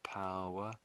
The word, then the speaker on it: power: the I think it's the O and the W together make make a single sound. That's the way most people think of it. So it makes this owl owl. The O makes an owl sound.